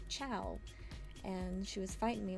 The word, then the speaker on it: ciao: Like she was like, "It's cha like ka or like cho or something is the way that she was saying it." I'm like, "No, it's ciao."